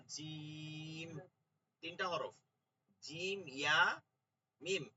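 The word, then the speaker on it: جيم: যে নাম আছে না, জিম, তিনটা হরফ, জিম, ইয়া, মিম, এটা হচ্ছে এটার নাম, কিন্তু প্রথম উচ্চারণটা হচ্ছে এই হরফ, জি, জি, জি, জিহ্বার মধ্যখানটা উপরে উঠে যায়, জি, জিম, জি।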